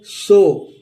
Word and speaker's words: sore: और SORE इसको भी हम पढ़ेंगे सो। शोर नहीं पढ़ते हैं इसको दोस्तों, और इसको भी सोरे नहीं पढ़ते हैं, आर साइलेंट होता है, हम पढ़ते हैं सो।